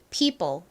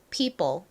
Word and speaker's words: people: 개 있어요 근데이 단어에서는 e o의 발음이 일반적으로 쓰이는 발음과는 좀 다른 소리로 쓰였습니다 입니다 그래서이 단어를 그